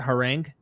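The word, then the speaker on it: harangue: Then his harang, is that how you pronounce that? Herang. Herang. Yeah.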